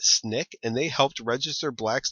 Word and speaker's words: SNCC: Important organizations you should be familiar with include the Student Nonviolent Coordinating Committee, pronounced SNCC, and they helped register blacks to vote in Mississippi, where only 5% were registered in 1964.